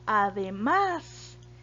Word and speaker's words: además: bien otro ejemplo sería además además tiene la sílaba tónica en la última sílaba verdad en la última posición ok y además se